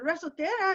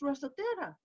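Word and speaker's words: resortera: your slingshot your resultera and i said resotera and she said yeah that's in spanish it's rosatera i said well it's over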